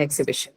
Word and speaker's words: exhibition: Four, and your B is the one that is stressed because you have the shin suffix. Okay, the penultimate syllable B is stressed.